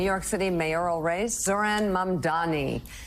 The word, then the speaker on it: Mamdani: All right, Democratic nominee in the New York City mayoral race, Zohran Mamdani.